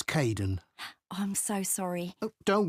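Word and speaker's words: Kaeden: Hi Aiden. Uh it's Caiden.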